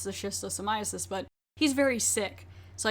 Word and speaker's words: schistosomiasis: And later we find out it's the schistosomiasis, but he's very sick.